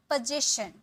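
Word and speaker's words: position: अधिकार, पोजीशन, अधिकार means पोजीशन, ठीक है। ज, इसका साउंड आएगा ज, पोजीशन, पोजीशन, ओके।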